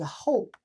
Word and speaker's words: 候: That's kind of literally translated, but pronounced as a whole.